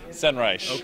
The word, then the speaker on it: Senreich: that's easy enough how the hell do we pronounce your last name sunrice yes don't worry nobody pronounces my